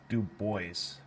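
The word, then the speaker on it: Du Bois: President Hayes Booker T Washington web deis which is spelled web du boys NAACP Homer plusy Jim Crow lynching you need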